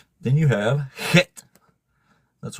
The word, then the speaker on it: Het: Then you have Het. That's right. That's how you pronounce a Hebrew letter. Het. You got to hawk at it to make it sound right.